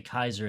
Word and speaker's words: Caesar: It took it took a long time to follow those many basically older Latin versus newer Latin pronunciations. Yeah. So when they say Kaiser in the show, they're right.